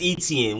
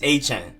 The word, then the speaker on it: Etienne: the ones that like travis etienne we've been saying that wrong for forever for years now i'm glad to know that it's travis a-chan so any names that we